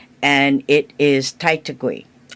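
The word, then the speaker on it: Taitague: And it is Titui. Oh, that's beautiful. I've never heard that. Titui. How do you spell it?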